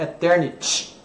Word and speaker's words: Eternity: E o brasileiro tem a tendência de comer o Y, fala Eternity. Não é Eternity, é Eternity, né? Y tem que pronunciar.